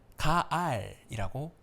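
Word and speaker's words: גאל: 봐야 할 것 같아요이 속량이 하는 단어는 히브리어로 가알이라고 읽습니다 헬라어로는 아폴리 이스라 단어를 쓰기도 합니다 조금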